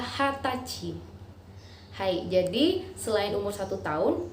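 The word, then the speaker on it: 二十歳: dibaca nih just say tetapi orang Jepang lebih sering memakai istilah hatachi Hai Jadi selain umur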